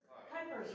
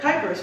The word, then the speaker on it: Kuypers: Kuypers rhymes with hyper. Okay. My sister was a typing teacher, so she said Kuypers rhymes with typer.